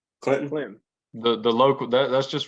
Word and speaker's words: Clinton: there with your pronunciation I don't think they pronounced the T in Clinton I think it's I think it's silent Clinton the the local that's